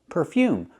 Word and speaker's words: perfume: talk about perfume perfume put the stress on the second syllable perfume make the long u sound like uniform and unicorn u u perfume the first syllable is the r sound like Burger per per perfume so perfume is for